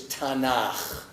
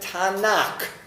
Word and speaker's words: Tanakh: tnk you get tanak the k sound at the end of a syllable is softened from k to well if it were a koof it wouldn't be but this is not a coup it's a cough a little technicality so tanak becomes tanaka okay so you